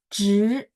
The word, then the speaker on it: 职: Kalau sekilas ada saya dengar bacanya jadi 这位 ya. 职 jadi ZHI bacanya 职位 ya, 职位 2, 4.